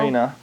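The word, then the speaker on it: Rena: Her name is, how do you how do you pronounce it? Reena or Renee Maro? Reena.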